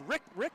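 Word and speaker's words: Riek: the big guy who's what you say it's rick rick how is how you say it rick rick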